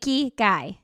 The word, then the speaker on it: ikigai: That's how you say it, ikigai.